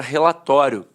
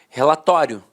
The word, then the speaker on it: relatório: Falava assim, ó, relatório, relatório. A penúltima sílaba era a sílaba mais forte e a última, de fato, perdia a força.